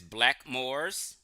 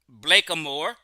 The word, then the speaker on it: Blackamoor: They said right here it says black Moors. This is what they really mean is black Moors. They didn't pronunciate it Blackamoor. They just said Blackmoors.